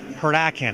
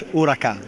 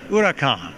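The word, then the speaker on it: Huracán: of the performance um this is the Lamborghini heran am I pronouncing that correctly not really not it's urakan urakan urakan it's Spanish for ur ur uh it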